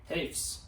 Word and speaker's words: Hoefs: Hoefs. Hoefs, I was going to say it wrong.